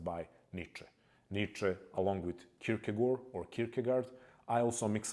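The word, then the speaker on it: Kierkegaard: Nietze along with Kirkagore or Kirkagard. I also mix up the pronunciations. Kirkagor would be the appropriate appropriate one. In the west, especially in the US, people say Kirkagard.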